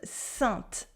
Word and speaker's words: sainte: Yes, it is sainte. Sainte. We have a consonant after A-I-N, so we have the nasal sound.